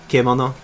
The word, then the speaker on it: kemono: Kimono is formal wear. Kemono is beast. So it's actually Okay. kemono. Yeah. So it's a different syllable, but close.